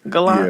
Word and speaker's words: Gallant: Is that how you say his name? Gallant? Yeah. Mm-hmm. Like the car.